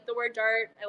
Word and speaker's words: DART: But so we used to have a lowercase d, and people would always be like Dart, we can't pronounce it. I'm like, no, it's just Dart.